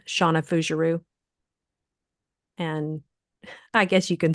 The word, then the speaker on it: Fougerousse: it's the other one's just my name Shauna fueru and I guess you can spell that out because it's not it's not going